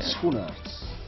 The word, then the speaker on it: Schoenaerts: But what is like the Belgian pronunciation? Schoenaerts.